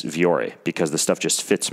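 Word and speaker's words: Vuori: V or E clothing it's spelled V u o R I I know it's kind of weird viore clothing calm and you have to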